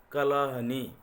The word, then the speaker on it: Kalahandi: Kalahandi is a place in Odisha in India. So it has been locally pronounced Kalahani.